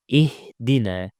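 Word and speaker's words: اهدنا: So alif wasl has a kasra. So it's pronounced as hamza with a kasra. I. Ihdina.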